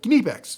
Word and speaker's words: Knipex: If you're German, it's more like Knipex. It's Can you? I can't do it today. Some days I can do it. My German comes through. Not today. Anyway, it's really quick. The K is pronounced.